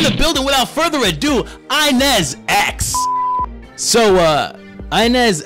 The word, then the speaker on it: Inas X: In the building, without further ado, Inez X. So, Inez X, or can I call you Inez? It's Inez X, okay.